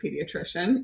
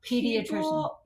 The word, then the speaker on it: pediatrician: weird about the word pediatrician can we talk about that for a second it's a big word starts with the p it's not a silent P why why why are people weird about pediatrician I I love my